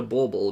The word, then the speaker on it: Borble: You'll be able to get Pilcrow PhD present, Thoob Bauble, and that's spelled Borble. It's like a bauble, Bauble, but it's also a borb.